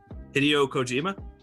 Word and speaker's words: Hideo Kojima: and JP say his name one more time hideo Kojima oh God I'm sorry I haven't even cultured